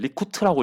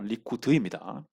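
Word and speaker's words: Likud: 일단 참고로 요게 이제 리쿠드라고 있습니다. 리쿠트라고 읽는 분 계시는데요. 리쿠드입니다.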